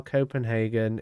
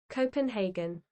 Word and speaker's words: Copenhagen: think Volvo is funny, Mikey, look up how Copenhagen is pronounced. Oscar, why am I wrong? What? I thought you were my friend. What do you mean, how do you pronounce Copenhagen? Copenhagen in Danish, right? Copenhagen.